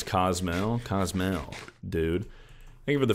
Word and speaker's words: Cozumel: How do you pronounce Cozumel? Cozumel, dude.